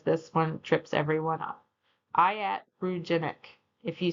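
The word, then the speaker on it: iatrogenic: Let's start with pronunciation because this one trips everyone up. Iatroenic.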